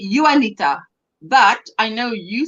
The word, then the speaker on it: Juanita: country, we would say Juanita, but I know you say Juanita. Yeah, It's Juanita. that's Juanita. Yeah. Yes, but we pronounce the J as You.